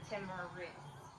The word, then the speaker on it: Timiris: I know a lot of people don't know how to say my name for real, so it is Timiris.